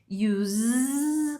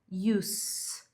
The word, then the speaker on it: use: Ela pode ser pronunciada como use, com esse sonzinho de Z no final, ó, use. Ou ela pode ser pronunciada com som de S no final, use, use.